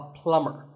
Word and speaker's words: plumber: pipes at your house you call him a plumber not a plumber the bee is silent so plumber in fact in many words